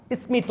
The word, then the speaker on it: স্মিত: ড আছে কুষমান্ডের মধ্যে আর স্মিত নাকি স্মিত আপনারা বলেন স্মিত দেখেন ইসমি স্মিত কারণ এটা প্রাচীন শব্দ সংস্কৃত শব্দ এখানে উচ্চারণ হচ্ছে